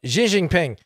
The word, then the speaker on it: Xi Jinping: everywhere big brother is definitely a big uh Xi Jinping uh that's how you say it properly all